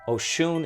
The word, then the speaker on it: Oshun: Oshun is spelled Osun and Orisha deity.